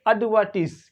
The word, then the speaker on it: advertise: और ये वाला जो सिलेबल होता है इसका TIS, इसको पढ़ते टिस. यहाँ पे जो एस होता है उसको जेड नहीं प्रोनाउंस करते. एड. तो क्या पढ़ेंगे इसे? अडवर्टिस.